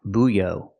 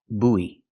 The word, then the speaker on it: buoy: this is a buoy pronunciation buoy buoy make the long ooh like food and moon Boo and then have the long e like green beans e together we link the